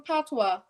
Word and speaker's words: patois: That's the How do you pronounce it? Patois, you said?